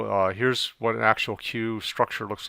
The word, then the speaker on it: queue: the deck so a cue pronounced by the letter q is actually from the